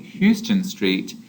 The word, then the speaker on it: Houston Street: this street in New York is not called houston street it is houston street so it's important to